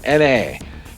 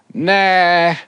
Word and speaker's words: Na: Then I found out it was a sodium-ion battery, and Na then made sense as Na is sodium on the periodic table. So it's pronounced Na and not nah.